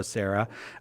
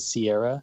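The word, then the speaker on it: Serra: like Sister Sarah, but like Father Sarah, Father Junipero Sarah. Adrian from Sips with Sarah, thank you very much for being here with us. Thank you for having me. Thank you for clearing up how to say the name. I often get Sips with Sierra, so I appreciate you saying.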